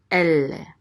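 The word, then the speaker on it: אֵלֶּה: So we put the accent on the first syllable, elle, and elle means these.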